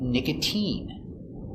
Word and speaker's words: nicotine: mine Valentine Valentine but sometimes it's pronounced with a sound e like nicotine here's the e sound nicotine and sometimes it sounds